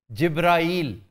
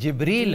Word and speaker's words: जिब्रील: अब जिब्राईल इज़ no word जी, ये हमने खुद जिब्राईल बना रखा है, मैकाईल, इज़राइल और इसराफील के वज़न पर। एक्चुअली जो कुरानिक स्पेलिंग है वो जिब्रील है, बाले जिब्राईल नहीं है किताब का, बाले जिब्रील, बाले जिब्रील है। तो इसलिए जिब्रील कहा करें और शर्जील भी ना कहा करें।